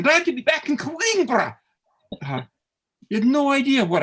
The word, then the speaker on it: Coimbra: don't you know anything in portuguese it's not queen bro it's coinbra so uh i'm corrected a couple years later